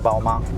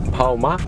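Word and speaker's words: 宝马: - BMW is Bǎomǎ. - Bǎomǎ? - Bǎomǎ.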